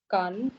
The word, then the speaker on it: Cannes: How do you pronounce this word, please? Nantes. Nantes. That's right. Nantes. Next one. Rennes. Rennes. Then Cannes.